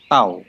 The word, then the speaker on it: tau: Ini simbol ini bacanya tau, huruf T dalam huruf Yunani.